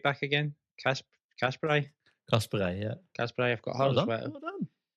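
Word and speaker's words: Casparij: So, I've got, how do you pronounce the Man City right back again? Kasperai, yeah.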